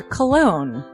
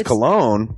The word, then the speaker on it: Colon: It is a self-published book by Christopher Cologne. Chris Cologne smells good to me. But Look at her. That broke that fucking cold little exterior. He's like, hee. but it is spelled Colon.